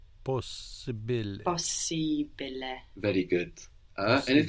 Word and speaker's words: possibile: Possibile. Possibile. Very good. And it felt good to take it slowly, no? Yeah. Like Possibile. Possibile. Because you accent the second to the last syllable of most words, right?